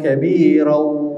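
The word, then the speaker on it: كبيرا: Kita ambil kaedah apabila tanwin diwakafkan, maka kita tidak menyebut lagi bunyi tanwin. Okey, jadi kita akan baca Allahu Akbaru Kabira.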